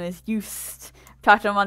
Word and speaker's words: Yoast: You're going to want to get a free plugin called Yoast SEO. It's spelled just like toast, only with a Y instead of a T.